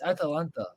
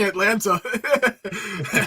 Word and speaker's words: Atalanta: go I I mean it's atanta I mean really it's like Chris Russo still saying Atlanta I said it right